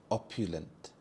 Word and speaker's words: opulent: his true intentions opul opulent the stress is on the first syllable op opulent this means luxurious or